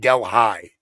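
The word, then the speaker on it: Delhi: it Koo yes we have a Deli New York but we call it Del high right there's a small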